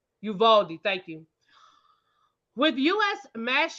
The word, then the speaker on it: Uvalde: state lawmakers in response to the um you you valet am I saying it right Uvalde thank you with U.S mass shootings on a